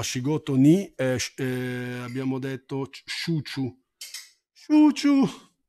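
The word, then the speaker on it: 中: ni abbiamo detto shuchu chuu e quello lì è naka che però si pronuncia chu gogi alle 5 gogi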